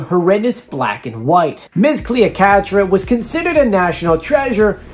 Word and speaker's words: Cleocatra: Next is Ms. Cleopatra. I said it wrong again. Cleocatra.